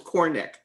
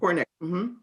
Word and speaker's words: Korenich: Two syllables, Cornick. Cornick. Okay. Cornick. Like a hard K sound.